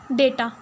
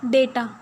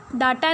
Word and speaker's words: data: किसका मतलब होता है ये, डेटा। इसकी प्रोनाउंसिएशन वर्ड की क्या है, डेटा, डाटा नहीं है, डेटा है, ठीक है।